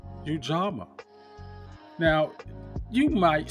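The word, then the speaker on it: Ujamaa: I didn't take it as such, but it's pronounced Ujama.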